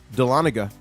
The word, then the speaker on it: Dahlonega: If you move there, pronounced Dahlonega.